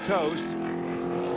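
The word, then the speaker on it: Toste: Heavy impact for Tony Toast. It's spelled T O S T E but pronounced Toast.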